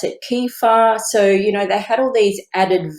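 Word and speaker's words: kefir: make some other things um I think you pronounce it kefa so you know they had all these added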